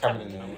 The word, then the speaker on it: Chamillionaire: Oh yeah, It's Chamillionaire. I think It's it's Chamillionaire.